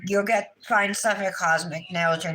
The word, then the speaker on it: Kozmik: a few minutes um these colors again are from cosmic Nails it's spelled k o z m i k nails she has a